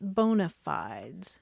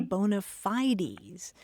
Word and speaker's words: bona fides: fi d s and in Latin you pronounce it bonafides and that literally means